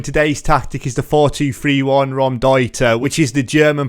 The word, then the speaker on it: Raumdeuter: are you doing today's tactic is the 4-2-3-1 ROM Dieter which is the German pronunciation for space invader so it's been made